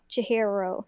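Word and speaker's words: Chihiro: the programmer Jihiro there you go Jihiro yeah um when he's trying to become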